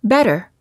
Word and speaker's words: better: minutes from Santa Monica when T is between two vowels the T sounds like a fast D sound when it's between two vowels when a t is between two vowels it's generally pronounced like a fast D sound we don't say better we say better it also sounds the